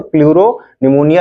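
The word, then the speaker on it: pleuropneumonia: ठीक, like organism, LO का मतलब हो जाएगा लाइक ऑर्गेनिज्म, और प्लूरो P का मतलब, फिर दूसरे P का मतलब निमोनिया, P साइलेंट हो जाता है, तो प्लूरोनिमोनिया लाइक ऑर्गेनिज्म क्या है, माइकोप्लाज्मा का दूसरा नाम है।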